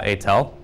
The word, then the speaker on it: Aitel: be good all right anyway I'm uh atel in case uh curious how to pronounce my illegible last name which was originally